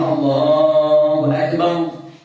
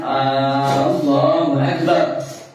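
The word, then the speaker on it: الله أكبر: Pertama tidak memanjangkan Hamzah. Jangan mengucapkan ee Allahu Akbar. Enggak boleh.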